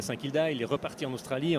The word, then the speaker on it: Saint-Kilda: Comment on le prononce, Guilde? Saint-Kilda.